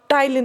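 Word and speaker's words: ptyalin: तो सलाइवा में टाइलिन होता है, पी साइलेंट है।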